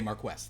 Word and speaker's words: Marquess: That's how the British not pronounce Marquis? it. No, they say Marquess.